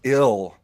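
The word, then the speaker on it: Gil: Luis Ill. Don't pronounce that. Don't pronounce that G.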